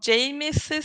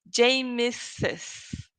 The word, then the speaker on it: James's: Number one, James's family. Can you did you notice that I pronounced the S twice? James's, James's, James's family, or Lucas's family.